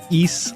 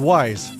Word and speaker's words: Ys: For the longest time, I thought it was called wise cuz it's spelled y apostrophe s. And I might just still call it that. Makes sense, right? Why apolog It's wise, not East. Come on.